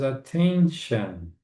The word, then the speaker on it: attention: Itly deserves attention. Hardly deses attention. E olha só pronúncia dessa palavra aqui, né? Como se fosse número 10.